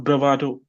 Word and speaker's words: bravado: So, va is the stressed one, bravado.